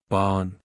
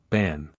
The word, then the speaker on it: Ban: wish ban was here Bon laughing the woman pokes him on his forehead no silly is pronounced ban BN ban who's ban why did